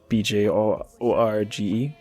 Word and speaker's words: Bjorge: Bjorge, B-J-O-R-G-E.